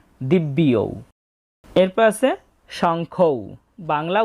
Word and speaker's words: দিব্যৌ: তবে কথা হচ্ছে এখানে যে জফলা আছে এই জফলা মূলত বয়ের সাথে অন্তস্থ জ যুক্ত অবস্থায় আছে, তাই বটাকে অর্ধেক উচ্চারণ করতে হবে দিব্যি ঔ, দিব্য ইয়ৌ, দিব্যিয়ৌ।